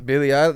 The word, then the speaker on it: Billie Eilish: Billie Eilish.